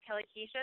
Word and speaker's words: Kellie Kuecha: Many of you know my name is Kellie Kuecha. That is how you pronounce my name, even though it doesn't look that way.